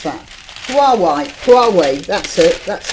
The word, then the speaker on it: Huawei: Now, senior Tories form Wolverines group to oppose how do you pronounce that? Huawei, that's it, that's how it goes.